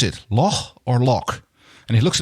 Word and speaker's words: loch: And I was like, can you tell me, do you pronounce it Loch or Loch?